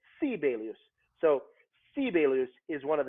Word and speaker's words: Sibelius: preface this by saying they pronounce his name sibelius there because americans think i'm crazy i don't know how to pronounce that name in finnish every first syllable of a word is is emphasized so if i say which means good morning how are you so you say sibelius so sibelus is one